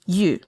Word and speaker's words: Yu: So it's not you, although if you need to pronounce it that way, that's perfectly fine. Just go ahead and say you and you. But Yu is going to be, just say ye, like ye, Y-E, and then form your